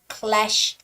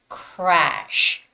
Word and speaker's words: crash: Clash like L but make sure you make the right R sound which is crash crash remember R sound you know you need to pull out your lips a little bit crash to make the proper R sound crash crash so your